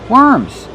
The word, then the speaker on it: worms: Worms. When we have W, we change the pronunciation. We do not say or. We pronounce it. Were worms. Use the sound like burger.